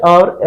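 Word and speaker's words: hour: इसमें आवर है तो आपको पता है साइलेंट एच हमने ये भी पढ़ा कि साइलेंट जहा एच होता है वहा उसके साथ जो उसके पहले जो आर्टिकल एन का ही प्रयोग होता है इसमें भी एन आएगा तो an Italian cam टू सी मी एन ववर एगो ठीक है तो इसमें साइलेंट एच था इसलिए यहा एन का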